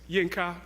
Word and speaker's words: Yinka: have a shorter nickname it's Janka two syllables and then there are